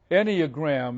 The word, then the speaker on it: Enneagram: Enneagram is how I pronounce it, but it's spelled Enneagram.